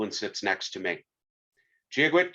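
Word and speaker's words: Dia duit: Giagwit, she says, phonetically, G-a-gwitch, translated from Irish Gaelic, God be with you.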